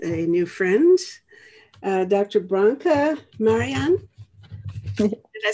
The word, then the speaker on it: Marijan: Branka Marijan.